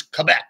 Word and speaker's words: Quebec: It's Quebec, right?